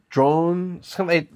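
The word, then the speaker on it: Drouhin: it here United States it's pronounced kind of like drone but with like a in so like droan or drone I can't do the French pronunciation properly but drwan is fine it's kind of like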